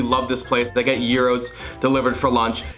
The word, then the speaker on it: gyro: this place they get euros delivered for lunch it's not gyro it's euro pronounce it right come on i don't